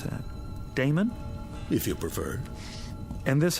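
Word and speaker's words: Adaemon: How do you pronounce that? Damon, if you prefer.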